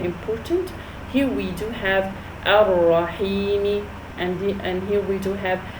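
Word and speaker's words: الرحيم: Why didn't I say Ar-Rahimi? Because I stopped.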